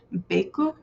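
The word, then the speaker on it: ベイク: like this in Japanese, you would actually pronounce it bake, but down here it is actually giving the phonetic as close as you can get in Japanese to how you would pronounce bake, which would be beku.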